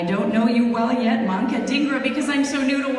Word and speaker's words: Manka Dhingra: And so I would like to welcome Senator, I don't know you well yet, Manka Dhingra, because I'm so new to Washington.